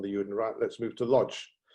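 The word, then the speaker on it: Łódź: unit let's move to lodge with some the poles pronounced wood and look a chi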